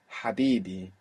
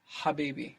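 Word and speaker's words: حبيبي: So that position where your throat is in, Habibi, is actually the same position, more or less, that you will make the Ain from. So you could even practice Habibi, Abibi, even though that isn't the word, still, sure. Just to practice the position of your throat.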